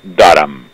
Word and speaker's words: Durham: el caso del informe darán un se escribe durham con h se anuncia para dar me darán que estaban investigando estaban